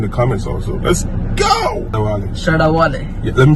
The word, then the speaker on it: Shatta Wale: Shatta Wale. Yeah, let me pronounce like a Ghanaian, like an African. Shatta Wale.